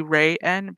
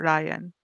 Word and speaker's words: Ryan: instead of so it wouldn't be Ray N, but Ryan.